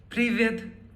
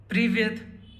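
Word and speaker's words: Привет: The first word that we have is Privyet. Privyet. Privyet is the informal way of saying hello. It's used with friends, kids, or family. Repeat after me. Privyet.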